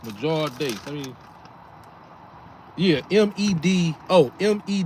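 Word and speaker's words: Medjool: So it's major date. Let me Yeah. Me D. Oh me E D J O O L. So the D ain't silent. Actually the D is silent cuz it's Major.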